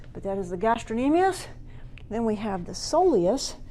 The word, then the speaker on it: gastrocnemius: calf is called the gastrin aeneas spell the gastrocnemius there's a C in it but let's see is not pronounced some people will say gastrocnemius so that they remember how to spell it but that is the